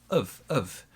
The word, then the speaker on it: have: Okay, so our pronunciation for have is more like this. Of. You shouldn't have.